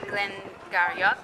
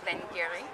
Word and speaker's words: Glen Garioch: words this is why some people in Scotland will say Glenn garak and then other will say Glen Gary yeah I mean um